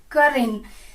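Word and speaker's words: curtain: एंड पर्दा को बोलते हैं कर्टेन, इसको मोस्टली लोग कर्टेन बोलते हैं, लेकिन इसका सही प्रोनाउंसिएशन है कर्टेन, टी इसमें साइलेंट है।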